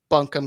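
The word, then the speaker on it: Buncombe: County was established in 1791 and it's actually pronounced bunkham County yeah gentically it's become be County so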